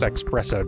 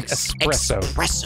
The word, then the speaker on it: espresso: feels right and then when you say it correctly it feels weird it doesn't feel as good to say as a word as expresso does it yeah express an espresso it feels like there's something missing oh came back for